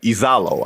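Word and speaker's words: Iisalo: Uh, and they hired a gentleman named Tomas Isalo. If hopefully Isalo, I think I pronounced his name the right way. I should applaud because you nailed it.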